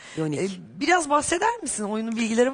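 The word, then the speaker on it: Jonigk: Okunuyor? Yonik.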